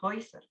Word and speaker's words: Häuser: Kalau ada A umlaut ketemu U, bacanya OI. Die Häuser.